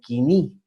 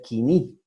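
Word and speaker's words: koiné: nosotros vamos a ver el griego quini o como se escribe él codine pero se debe leer quini ok el 330 al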